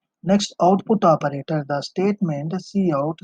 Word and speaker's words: cout: The identifier C out pronounced C out is predefined object that represents the standard output stream in C++.